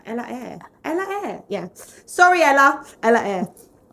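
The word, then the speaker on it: Ella Eyre: had appearances with artists like Dizzy Rascal and Ella Ella however I say her name right. Ella Air Ella Air yeah sorry Ella Ella.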